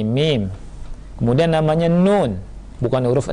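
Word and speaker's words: ميم: jin juga kurang tepat yang benar bukan huruf Ma tapi mim kemudian namanya Nun bukan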